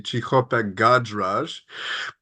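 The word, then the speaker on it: Cichopek-Gajraj: Anya's last name is actually Chichopek Gadraj.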